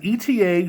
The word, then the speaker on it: ETA: um it has an ETA 28 26-2 movement inside some people will pronounce that ETA but I say eta but anyway that offers